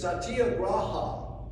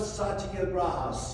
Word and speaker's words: satyagraha: The Indian word for it is satyagraha. At least that's the best way I can pronounce it.